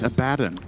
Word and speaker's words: Abaddon: not even level six you have to say abaddon not level six good but uh he will again it's abaddon you have the chance to correct it so